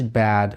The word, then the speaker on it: bad: So, "bad" is a wide sound, the jaw goes down. The tongue lies flat. We open our mouth wider than in Russian. "Eh," in Russian we don't have such a simple vowel sound. The tongue goes as low as possible and moves back a little. This is when you say "bad."